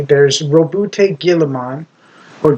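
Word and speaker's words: Guilliman: There's Robbout Gilaman or Guillean. Like Gilly almost except it's almost like pronounced Gilly like Gilly suit, which is like a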